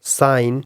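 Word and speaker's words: sign: यहां पे साइलेंट एंड the letter ji साइलेंट तभी होगा when it comes before N यानी जी एन से पहले आ जाए या बीच में भी आ सकता है स्टार्टिंग में भी आ सकता है सो जी इस केस में साइलेंट होगा such as साई नेट साइन साई भी एक और वर्ड है एस आईजी एन साई या एस आईजी एन साइन है नेट है एंड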